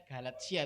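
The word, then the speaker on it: Galatia: G galatsia bab 5 jadi bacanya galatsia itu bahasa Latin t itu dibaca S Ya oke Ya maksudku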